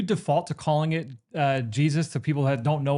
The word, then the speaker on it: GSIS: Um, it's spelled GSIS to be fair, but we all call it Jesus.